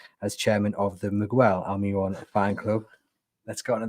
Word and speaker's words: Almiron: Yeah, Miguel Almiron. There's no W in the only Miguel. person that can tell me I'm pronouncing it wrong is Miguel Almiron himself.